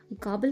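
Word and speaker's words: gobble: the children काबल sweets गबल का मतलब होता है चट कर जाना या हड़प जाना इसकी स्पेलिंग होती है जी ओ डबल बी एल ई बट इसका प्रोनंसिएशन होता है गाबल उसने नूडल्स की पूरी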